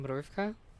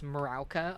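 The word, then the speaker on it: Mrówka: The funny thing is the word is actually Mruvka, or something like that, and it's like Polish for ant. So like Miauka's name is just Ant, but I just decided to call her Miauka because I kept mispronouncing it as Marauka until Batty taught me how to actually say it, and I was like, oh, that's nice.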